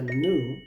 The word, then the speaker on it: new: Pero si quieren aprender el acento americano, esta palabra se pronuncia nu porque la e es muda.